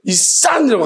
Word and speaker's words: 이싼: 자, 그래서 그냥 여러분들 아실 때 발음할 때 이산이라고 하십시오. 쓰리시옷입니다.